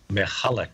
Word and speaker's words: Michalak: And we're talking about Falcon Lake in connection with this book, and I can barely pronounce the co-author's name, Stan Michalak. Michalak, yes.